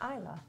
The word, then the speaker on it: Islay: Is it Islay? It's not, but that'll make them mad. It's Islay.